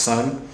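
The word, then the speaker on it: Seon: s e o n but it's pronounced Sun um and then also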